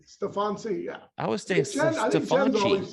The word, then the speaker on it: Steffanci: yeah what were you seeing yeah that's right stefan c yeah i was staying right when my grandfather